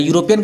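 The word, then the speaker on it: European: यूरोपियन का spelling है ई यू से, लेकिन आवाज़ निकलता है यू, जिस कारण से यू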